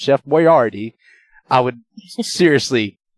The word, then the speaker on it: Chef Boyardee: Boyardee was still around and yes it is pronounced Chef Boyardee I would seriously name my child Chef Boyard